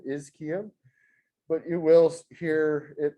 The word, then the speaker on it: ischium: and then a ch makes a cos sound is kim but you will hear it pronounced ischium as well and this is your